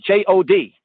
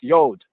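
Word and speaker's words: יוד: It says J-O-D. Now, ones might say that from a Anglo-American, like British American kind of way of speaking, as Jod, but really it's Yod.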